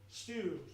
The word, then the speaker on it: Stu: So, I reply, you know, stew like dinner.